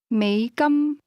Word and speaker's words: 美金: It's pronounced with a low tone that rises to a high level. Listen again and repeat. 美金 Say, I have 14 American dollars, or 14 units U.S.